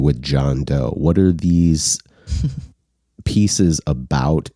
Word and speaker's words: DJONDO: of conceptual project um it's called John do but it's spelled funky uh it's all one word all capital letters DJ o n d o so it looks like John Doe with a silent D at the beginning basically um and I went